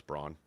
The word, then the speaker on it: Braun: He's got Anthony Edwards, 6+ rebounds, and I know it's the kid on Denver's Brown, right? Even though it's Braun. Brown.